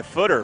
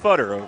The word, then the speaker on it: Footer: That was a heavy hit there for Midwest City by Footer. Footer's making some plays. Get to know footer, not pronounced futter.